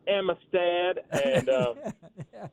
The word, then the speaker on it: Amistad: I went to YouTube, typed in Lake Amistad, and learned that a bunch of the locals pronounce it Amistad.